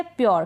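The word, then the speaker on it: pure: थोड़ा सा आप प्रोनाउंसिएशन पे ध्यान जरूर दें। नेक्स्ट है प्योर।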